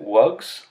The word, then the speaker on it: wugs: Your ability to add the plural s and to use the voice pronunciation of it, z, was not due to imitation because you've never heard of a wug before.